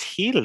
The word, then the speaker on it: Gil: I think it's heel, bro. Heel. I'm looking it up right now. Brian The Heel.